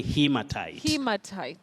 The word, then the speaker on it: haematite: And remember that sometimes somebody may meet or find, may come across, the spelling Hematite. That is now the American spelling, but the pronunciation is still the same. So the Hematite is the British spelling. The American has no A after H. It's Okay. just an E after H, but All the right. pronunciation remains the same, Betty.